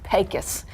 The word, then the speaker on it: Pecos: Also, it's not Pecos, it's Pecos in Pecos.